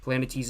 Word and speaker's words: Planetes: Planet Tease is spelled Planetes.